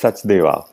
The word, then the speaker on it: Sachdeva: You know my impossible to pronounce names correctly. No, it's Sachdeva.